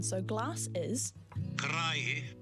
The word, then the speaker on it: karaihe: And then you can click on a little sound button next to it, and it will do the pronunciation. So glass is... Karaihe. Karaihe.